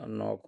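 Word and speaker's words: knock: Fast होना wrong होना नॉक होना तो साइकोलॉजी डिफरेंट हो जाएगा अब साइकोलॉजी में पी साइलेंट है। रॉन्ग में डब्ल्यू साइलेंट है। नॉक में के साइलेंट है।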